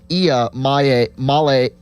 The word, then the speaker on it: Iamaleava: Pronounce that again. Nico Iamaleava.